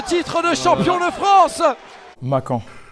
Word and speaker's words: Makan: Makan, ça se prononce Makan. Bon, il y a souvent la confusion Makan. Bah, on dit que Makan, mais ça se prononce Makan en réalité.